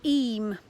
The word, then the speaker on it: Eyam: I'm here today in the beautiful village of Eyam, that's how it's pronounced, in the Peak District National Park in England. Now Eyam is a lovely village.